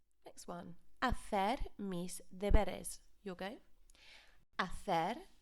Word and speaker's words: hacer: And again, be careful of that pronunciation, that's CE, because the C sounds like a TH, a th sound, when it's before the E.